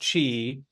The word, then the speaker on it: Qi: which is just pronounced Chi which is like just same as cheese but you just take